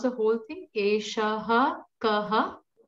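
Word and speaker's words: eṣaḥ kaḥ: Eshaha kaha? Correct. Eshaha kaha. It is not esha kaha. It's not that.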